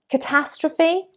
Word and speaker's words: catastrophe: Catastrophe, catastrophe. The stress is on the second syllable.